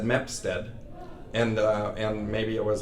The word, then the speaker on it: Mapstead: We just had a quick conversation about how to pronounce his last name because Aussies say Mapstead, but it's actually Mapstead.